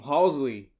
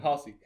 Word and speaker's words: Halsey: is cool too um halsley she was just like um halsey halsey halsey that's weird because he said it right the first thing like